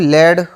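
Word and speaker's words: lead: एडी एल ई एडी इसको हम मैं पढ़ रहा हूं लेड और इसको पढ़ रहा हूं लीड ठीक है अब यह दोनों उच्चारण इसके सही है कि नहीं है दोनों प्रोनंसिएशन इसके सही है या गलत है तो दोनों सही है लीड और लेड और इनका अर्थ भी अलग-अलग होते हैं एक तो होता है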